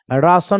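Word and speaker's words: ration: कहिएगा सर कैसे, तो देखो RA को आप क्या बोलिएगा, रा, और TION का क्या पढ़िएगा, सन, तो सन लगा दो, तो रा सन क्या बन जाएगा, राशन हो जाएगा।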